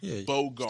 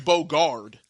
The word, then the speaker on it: bogart: is to Bogard I I thought it was Bogard well now I know I'll start saying it correctly I've been saying it wrong all these years yeah I've been saying